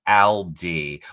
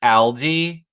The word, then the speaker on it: Aldi: I wonder if Destiny's in TV Co chat says, I think you say it like Aldi, which I was gonna say.